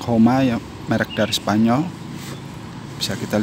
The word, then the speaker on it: Joma: merk dari Spanyol ya Dan mungkin di Spanyol ini cara bacanya bukan cuma tapi jadi Ini pertama kalinya saya memberi produk dengan merk homai merk dari Spanyol bisa